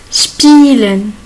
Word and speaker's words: spielen: Spielen. Spielen. S et P. Il se prononce ship. Spi. Et I and E. Il se prononce I. Spielen.